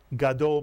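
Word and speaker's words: גָּדוֹל: Hebrew word God though God is the first syllable dole is the second God dole means big or large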